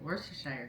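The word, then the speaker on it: Worcestershire: make soy sauce teriyaki worshire sauce and see I do know how to say it wor to Shire sauce so basically what I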